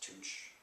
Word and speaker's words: Tucc: Andres, Tucc, which is pronounced Tooch 30.